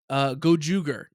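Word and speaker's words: Gozyuger: Hang on, let me make sure I'm getting the pronunciation right. Gojuger.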